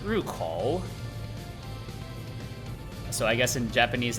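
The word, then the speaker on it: 入口: So I was like, okay, that's Ren, and then you have Renkou, entrance. But then I later learned that it's actually pronounced Rukou.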